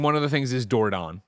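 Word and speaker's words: Dordogne: door gone I call it the way they pronounce it in one of the things is dordon dordon it's French this is a town in uh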